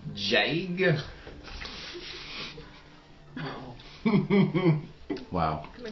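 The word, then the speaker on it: Daig: It's spelled D-A-I-G, but apparently Irish, they pronounce D's as J's, like soft J's as in Okay. joy. And then I's are pronounced as like E-E's. So it's really Jag.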